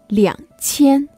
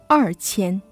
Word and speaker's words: 两千: But for 2000, you should say 两千. Take note, you can never read it as 二千.